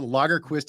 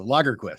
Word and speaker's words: Lagerquist: having me you're right I always tell people logger Quist is Swedish for the Quest for beer which